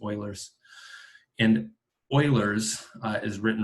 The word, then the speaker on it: Euler: second one is called euler's chain rule this is pronounced euler's you'll always look like a newbie if you pronounce this euler but it's oilers and euler's is written